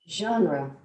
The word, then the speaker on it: genre: what is your favorite jane and gosh i can't even pronounce that it's difficult yeah right jane genre no this is spanish this is actually french genre genre okay wow i